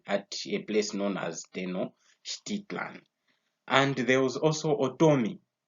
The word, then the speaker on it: Tenochtitlan: Tenochtitlan, that's how I pronounce it. So that was his pyramid. It was found at a place known as Tenochtitlan.